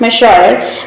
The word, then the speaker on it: Monsieur: Here it is pronounced Monsieur because it is a French word.